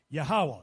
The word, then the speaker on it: Yahawah: was I not known the name Jehovah translated in the lwan qadash is pronounced yahawah you know I did